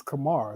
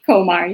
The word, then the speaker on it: Komar: in the correct pronunciation of your last name is Komar. Is that correct? Komar, yeah. Komar, right?